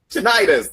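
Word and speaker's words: tinnitus: Titus tenis titis. Tonitis.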